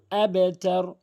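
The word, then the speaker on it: أَبْتَر: এখানে অধিকাংশ লোক আবতার বলে, আবতার, এটি ভুল উচ্চারণ। সঠিক উচ্চারণ হচ্ছে আবেতার, আবেতার। কেননা বা কলকলা হরফ, কলকলা হরফ 5টি রয়েছে, বাজিম কফ দাল, বাজিম কফ দাল।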